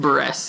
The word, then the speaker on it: Buress: Yeah, we disagreed on how you pronounce it. Buress. Hannibal Buress.